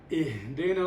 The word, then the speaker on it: اهدنا: اهدنا الصراط المستقيم. ممتاز، يعني اهدنا أتيت بالهاء، هذه الحرف الخفي أتيت به كاملا، لأنه بعض الناس يقول لي اهدنا كما أتيت به.